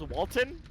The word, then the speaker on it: HDVDNXDN: Looking in the chat, HD said, my name is pronounced Walton.